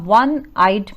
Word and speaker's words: one-eyed: platform are building a one-eyed man children notice here the spelling starts with o but the sound is of w so we have